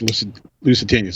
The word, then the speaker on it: Lusitanias: Lusitanias? I always want to call, yes, Lusitanias.